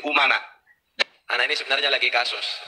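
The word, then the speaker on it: أمناء: Kemarin menyampaikan begini, Bahar bin Smith, al ulama umana ur-rusul, tapi bacanya al ulama amana ur-rusul. Saya katakan salah. Kenapa? Karena di sini umana.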